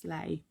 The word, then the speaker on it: sleigh: english school big ben it's a sleigh pronounced slay so there he is